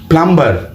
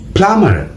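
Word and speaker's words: plumber: প্রায় শতভাগ বাঙালি বলি প্লাম্বার কিন্তু বি এখানে সাইলেন্ট থাকবে উচ্চারণ হবে প্লামার এবং সবচাইতে মজার নাম্বার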